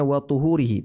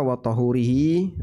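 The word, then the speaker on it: وطُهوره: Dan ketika beliau bersuci, coba lihat di sini bacanya wat thuhurihi pakai dommaah bukan wa thhurihi. Kalau pakai fathah watahurihi nanti jadinya air untuk bersuci atau media bersuci.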